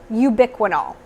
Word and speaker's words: ubiquinol: You're either just going to see straight up Coenzyme Q10, or you're going to see this fancy word right here that's pronounced ubiquinol.